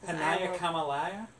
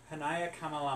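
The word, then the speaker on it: Hānaiakamalama: Hanaya Kamalaya? Hanaya Kamalama. As I said, you have to pronounce every single syllable in Hawaiian language.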